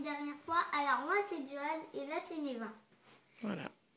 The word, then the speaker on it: Djoan: Alors, moi, c'est Joanne et là, c'est Neva.